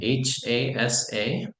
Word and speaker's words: hasa: So, our vision is abbreviated HASA, and this is a Swahili word that means especially, and it's pronounced Hasa.